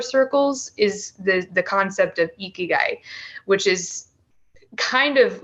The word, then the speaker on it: ikigai: Yeah, that reminds me of, there's a concept in Japan, I believe it's pronounced ikigai.